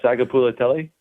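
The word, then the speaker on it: Sagapolutele: What I'm curious to know is can you pronounce the quarterback's name? Jiren. I believe it's I believe it's uh Saga Pulatelli, right?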